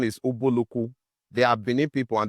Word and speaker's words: Ubulu-Uku: But today the pronunciation is Ubulu-Uku.